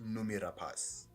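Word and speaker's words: Noomi Rapace: the film yeah oh apparently her name is pronounced numi rapas numi numi rapas okay that's a very nice way to pronounce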